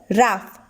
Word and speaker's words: rough: sound nephew next word raf here we can see the letters g and h these letters also pronounced as f but it is silent